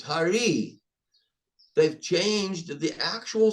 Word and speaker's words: Hare: Krishna. Hare. It's Hari.